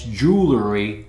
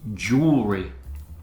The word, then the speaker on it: jewelry: Often mispronounced as jewelry, but it's jewelry.